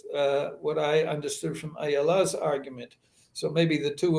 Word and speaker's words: Ayala: take the case of ayala as she has reminded me her name is pronounced in the hebrew way with the emphasis on the last rather than in the yiddish pronunciation ayala or versus but i